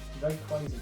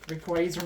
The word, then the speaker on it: Rayquaza: unless the front moves where's the Y after the a ray quazer man that's what it is just pull a molon